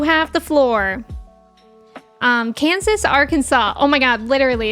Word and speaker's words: Arkansas: Um, Kansas, Arkansas. Oh my god. Literally, it's like that one vine. How is this state pronounced Kansas and this one is not pronounced R Kansas? Yeah, Arkansas.